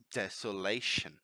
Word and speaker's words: desolation: first advanced word desolation desolation mind the pronunciation here is not désolé she is not like a Z sound is desolation right and desolation is